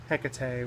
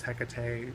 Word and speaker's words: Hecate: The original was Hecate. Some people call it Hecate. Some people call it Hecate.